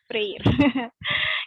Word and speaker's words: Freire: Apa nih bacanya? Freire.